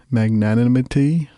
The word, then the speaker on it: magnanimity: say the word right magnanimous but it's the right way to say it almost with the ity at the end magnanimity that should be the